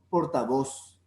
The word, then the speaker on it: portavoz: como en españa entonces en el español latinoamericano nosotros podemos pronunciar la zeta como ese capataz portavoz no portavoz ni que